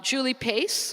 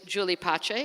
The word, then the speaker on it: Julie Pace: to my right um Julie Pace or in Italy she is Julie Pache as it's meant to be pronounced is a senior vice